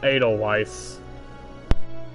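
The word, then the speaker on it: Edelweiss: responsibility from now on oh it's pronounced atoll Weiss I think it's nice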